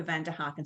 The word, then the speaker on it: Vanderhagen: the live and replay my surname is pronounced well vanderhagen and it depends actually which language you're going to speak in exam flemish french brought up in switzerland in england so it can be pronounced in numerous ways so we'll go for van der harken so thank you i